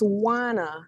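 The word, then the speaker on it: Juana: My name is Wana. There's a J there, but it's not pronounced.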